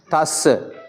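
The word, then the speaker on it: tassa: हाँ, ये दस्स कहा तो गलत है। इसको हम द के जगह पर थ लिखना चाहिए। इसलिए दस्स नहीं, नमो तस्स।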